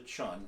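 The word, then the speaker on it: cun: the width of the thumb, it's called a chun, it's spelled C-U-N, or between your distal and proximal knuckle on your middle hand, okay?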